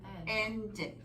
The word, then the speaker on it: ended: Porque tendemos a pronunciar esa ed. Cuando leemos decimos used. Y no debe ser used, debe ser used. Sí lo voy a decir cuando mi verbo originalmente termina en letra T o D. Waited, needed, ended, rent, en pasado, rented.